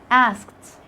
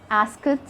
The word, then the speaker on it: asked: all end with ed in so many cases the e is silent like when you say played asked looked you can't hear the sound of the e we don't say ask it we don't say play